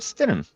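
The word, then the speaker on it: Stidham: I don't even know how to pronounce their their backup quarterback's name. Oh, it's it's it's Jared Stenham. Jared Stenum.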